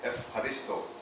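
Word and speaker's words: ευχαριστώ: The F is E-U, they pronounce it F. Just like the U and V in German are not separate, but so Eucharisto instead of Eucharisto. The H is the CH, an aspirated H.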